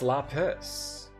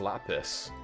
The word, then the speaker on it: lapis: It's lapis. I thought it was la like le. But it's lapis. Lis lazuli. It's like it's very rare that a word like that is like the dumb English pronunciation, right?